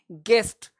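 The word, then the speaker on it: guest: अब गेस्ट में देखो यू क्या है, साइलेंट है, गेस्ट नहीं बोलते, गेस्ट, गेस्ट, यानी यू क्या है, साइलेंट है, GEST, गेस्ट, गेस्ट आए हैं, अतिथि आए हैं।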